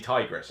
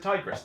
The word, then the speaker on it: Tigris: Somebody corrected me on the video the other day, said it was actually Tigris. Okay, I'm going to pronounce it Tigris then.